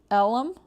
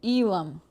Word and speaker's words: Elim: You say it like elm. But that's a e. She separated the e and the lim. Elim for Christ's sake.